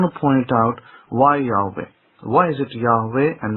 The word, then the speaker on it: Yahweh: Moses did not sit there pronouncing the name of God as Yehovah.